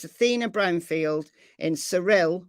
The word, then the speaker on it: Cyril: So it's Athena Brownfield in Cyril, which is spelt Cyril, because I keep thinking Cyril, Oklahoma.